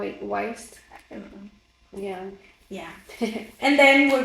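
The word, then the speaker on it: Wiest: get it from Brianna Weist that's how you pronounce it wa Weist yeah yeah and then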